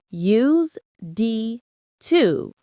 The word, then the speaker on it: used to: It is written use D to, but we say it fast. Used to with the hard S. Right, we don't pronounce the Z sound.